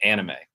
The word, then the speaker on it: anime: uh japanimation or anime anime is that how you say it Andy May okay because a lot of people just say anime that's a very American way of saying an anime but it's anime right so I've heard